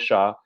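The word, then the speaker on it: Chau: His first name is not spelled like Shaw. It looks more like Chai or Chow, but pronunciation says Shaw.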